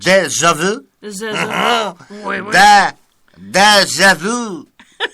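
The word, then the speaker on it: déjà vu: You got to say it like you're French. Deja vu.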